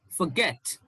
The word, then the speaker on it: forget: you have a shift now the stress is on the second syllable so you will say around forget forget it's not forget it's forget reply today it's not